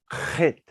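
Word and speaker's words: ח: But it has to come from the back of your throat. Okay. So you go like that, and you pronounce it chit, chit, chit, like that. Okay. So this is called chit.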